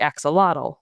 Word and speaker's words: axolotl: home to the critically endangered aquatic salamander, the axolotl, which is how it's pronounced in English.